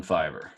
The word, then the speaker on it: Fiverr: all be done from Fiverr. Donnie, are you saying Fiver, Fiverr? Yes. Is that how it's spelled? Yep. Yep. The number 5 with the R at the end. Yeah.